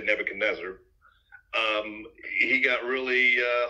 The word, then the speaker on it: Nebuchadnezzar: and and and Nebuchadnezzar some people say Nebuchadnezzar but I just say Nebuchadnezzar um he got really